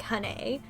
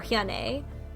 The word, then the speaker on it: Hyun-ae: and he said that it was more like Hane or Hyane. So I'm gonna call her Honey.